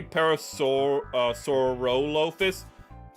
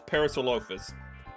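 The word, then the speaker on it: Parasaurolophus: You might be like, shouldn't it be parasaur sorophus? I've heard it said before. It's parasolophus. The o is really quick and they just don't bother pronouncing it.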